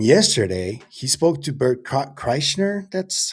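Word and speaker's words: Kreischer: can alchemy and yesterday he spoke to Bert Chrysner, that's how you pronounce it, the other comedian, sure.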